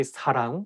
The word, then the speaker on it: 사랑: The same thing, like you have to say 사랑 with a softer S, not 사랑. And make sure that you pronounce 응 sound correctly. 사랑, not 사랑, 사람, or something else.